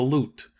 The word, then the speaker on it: loot: he was universally called the loot pronounced lute of course in the real American accent as though there were